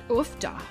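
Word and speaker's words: uff da: a minnesota accent well the classic is ufta which is spelled uff it is actually a norwegian word that you know like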